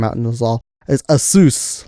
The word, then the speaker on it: ASUS: ever had I had an ax sous or asus I like saying asus better than a sous even though they came out with a video